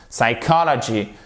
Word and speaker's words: psychology: Psychology, psychological, etc., avec tous les dérivés du nom psychology, ok? Psychology, et non pas avec un accent tonique sur la première syllabe.